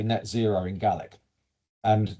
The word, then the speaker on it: Gaelic: caught up with the Gaelic language? And so how do you say net zero in Gaelic? And notice I don't say Gaelic. Gaelic is Irish, Gaelic is Scottish.